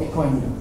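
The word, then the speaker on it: bitcoind: You don't pronounce it like Bitcoin. It's called Bitcoin D.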